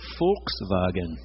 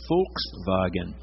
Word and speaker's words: Volkswagen: The W has the V sound, and the V has an F sound. That little beetle was called the Volkswagen. The Volkswagen, the little wagon of the people.